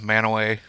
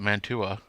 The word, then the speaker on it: Mantua: say it yeah man outsiders call it mantua or mantwa but that's how it's pronounced like i mean it's